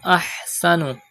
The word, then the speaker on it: أحسن: Waman ahsanu. Pronounce ha from the middle part of your throat.